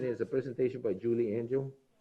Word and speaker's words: Angel: Is a presentation by Julie Angel. I like to pronounce that a little better. It's almost like Angel, but it's Angel.